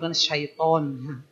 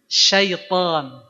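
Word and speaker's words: شيطان: itu juga salah ya syaitonirjim syaiton Harusnya sitan auubillahiirim bukan itu ya latihkan setiap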